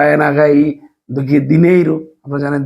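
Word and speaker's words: dinheiro: হা এর মত উচ্চারণ হয় আ এর মত উচ্চারণ হবে এখন আরা একই সাথে সাথে এখানে এন এচ ই বা এন আগাই দেখি দিনেইরু আপনারা জানেন দিনেইরু সবাই চিনেন দিনেইরু দিনেইরু মানে হচ্ছে যে অর্থ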